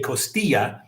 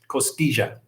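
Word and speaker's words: costilla: little bit different and they pronounce the double L like a J. So I will say it like the Colombians do and I say sabor a costigia and costia is ribs.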